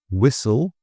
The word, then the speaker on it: whistle: So some examples: listen, whistle, castle, soften, and bristle. So listen, whistle. Whistle here has also the silent H.